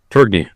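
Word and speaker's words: Tourigny: Tiering? Turgney.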